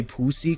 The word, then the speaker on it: Poosy: Clinchers was another one where you had to really specify Pussy Clinchers because it's spelled Poosy.